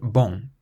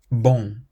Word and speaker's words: bon: The word bon ends in the letter n but you don't pronounce it bon. It's more like boom boom. The sound on the end is what's known as a nasal sound.